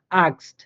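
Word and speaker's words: Axt: জার্মানে উচ্চারণ হয়ে থাকে, যেমন আক্সড, আক্সড অর্থাৎ এক্স এক্স এর মতো করে উচ্চারিত হচ্ছে আক্সড। এরপরে টেক্সট টেক্সট, হ্যাঁ মানে এক্স এক্স এর মতো করে উচ্চারিত হইতেছে।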